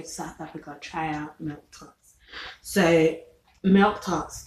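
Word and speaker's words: melktert: be sure to try several different kinds of milk tots as quality milk tarts in south african style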